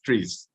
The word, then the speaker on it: TRIZ: However, when you pronounce it, the spelling is, the acronym is TREES.